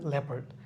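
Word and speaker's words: leopard: লিওপার্ড না, ল্যাপার্ড।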